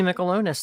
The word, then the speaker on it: Mikalonis: right now okay yeah my name is michelonis thank you for having me all right god that's too many syllables alone yeah yeah okay that's an easy